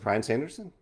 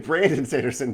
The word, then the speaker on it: Brandon Sanderson: Is it Brian Sanderson? No. The new Sanderson book. Brandon, not Brian. The new Brandon Sanderson book came out yesterday.